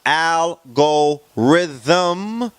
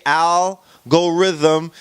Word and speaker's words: algorithm: also in web 1.0 algorithm pronounced I'll go rhythm okay I'll go rhythm is a procedure or